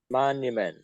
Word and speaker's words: monument: Monument. Monument. Say monument. Monument. Not man. Monument. Monument.